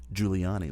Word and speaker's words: Giuliani: anyway the mayor mayor Rudy juliani uh Rudy Giuliani let me get that name pronounced right who by the way Rudy Giuliani